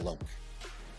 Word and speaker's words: Alok: You actually said it absolutely correct. Respect on that. Alok.